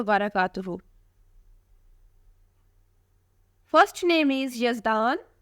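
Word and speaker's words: Yazdan: बरकातहू first name is यजदान यजदान नाम की spelling है वाई ए जड डी ए एन यजदान नाम के मानी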